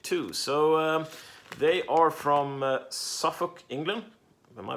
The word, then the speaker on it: Suffolk: So they are from Suffolk, England. Am I pronouncing that right? Suffolk, yeah.